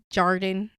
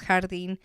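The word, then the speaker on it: Jardín: don't know or Hardin I always called it Jordan I didn't realize I was saying it wrong but it's hardine if you guys um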